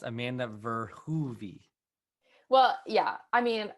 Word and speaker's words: Verhoeve: tomato technically the pronoun the correct pronunciation is um closer to verhuvi but i grew up with my parents always saying for hovie so that's what everyone